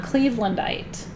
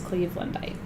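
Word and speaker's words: cleavelandite: about Anita is um Cleveland height uh and and it's spelled just like it sounds Cleveland bite and um and that's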